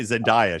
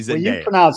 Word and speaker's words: Zendaya: That's the right way to say it. I say Zendaya she and it's supposed to be Zendaya.